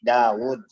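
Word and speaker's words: داود: di ada secara penulisan jadi kita bacanya bukan tawur tapi Daud Daud itu diantara beberapa kosakata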